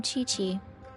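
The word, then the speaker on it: Qiqi: I am Chi-Chi. Chi-Chi. Okay. Once upon a time, Chi-Chi died. Then, Chi-Chi was saved by the Adepti. Now, Chi-Chi is a zombie. Chi-Chi.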